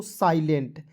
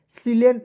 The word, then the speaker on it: silent: सिलेंट नहीं पढ़ेंगे, बहुत सारे ऐसे दोस्तों जो इसे सिलेंट पढ़ लेते हैं, नहीं। देखिए SI को साई पढ़ेंगे, ठीक है। SI को क्या पढ़ेंगे? साई। और LENT को पढ़ेंगे लेंट। बिल्कुल ध्यान से देखेंगे, हो जाएगा साइलेंट। देखिए प्रोनाउंसिएशन कीजिए, ज़्यादा से